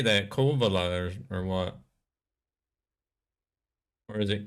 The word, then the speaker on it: Kouvola: Kouvola. Kouvola. Do y'all like really pronounce or stress the U? Worst concrete jungle with no colors whatsoever. Ah. You pronounce it the way it's written.